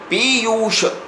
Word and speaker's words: पीयूष: तो पीयूष ऐसा उच्चारण होना चाहिए। और जब उच्चारण करते हैं तो प पर ज़्यादा जोर देते हैं, य पर ऊ की मात्रा में ज़्यादा जोर देते हैं, इसलिए दोनों दीर्घ मात्राएं होंगी। पीयूष।